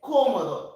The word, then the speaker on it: cómodo: Number one is cómodo. Accent on the first O.